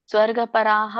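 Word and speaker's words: ಸ್ವರ್ಗಪರಾಃ: ಪ್ರತಿ ಹರೇ ಕೃಷ್ಣ ಇಲ್ಲಿ ನೀವು ಸ್ವರ್ಗ ಪರ ಹೇಳುವಾಗ ಸ್ವರ್ಗ ಪರಾಹ ಅಂತ ಹೇಳಬೇಕು ಒಂದು ಇಲ್ಲಂದ್ರೆ ಸ್ವರ್ಗ ಪರಹ ಸ್ವಲ್ಪ ಹ ಉಚ್ಚಾರಣೆ ಆಗಬೇಕು ಅಲ್ಲಿ ನಿಮ್ದು ಹ ಉಚ್ಚಾರಣೆ ಆಗಲಿಲ್ಲ ಕಾಮಾತ್ಮನ ಸ್ವರ್ಗ ಪರಾಹ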